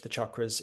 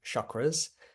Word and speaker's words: chakra: French people call them chakras. And you hear a lot, like almost every time I see someone advertising a chakra course, they always pronounce it chakra, and it's cha, okay? It's a chakra.